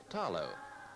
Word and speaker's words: talo: Outstanding in the Samoan diet is the taro, pronounced here with the L as talo.